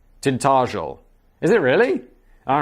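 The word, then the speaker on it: Tintagel: I live in the Cornish village of Tintteral, pronounced tint tintel. Tintageel.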